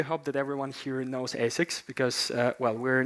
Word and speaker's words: ASICS: Speaking of which, yeah, it can be pronounced ASICS, ASICS, or even A6, because whenever I tell the name of the